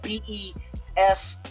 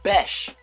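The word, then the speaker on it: Bech: Like it was spelled B E S H. Bes. I be hearing Beck. I'm like, "No, that's not Beck.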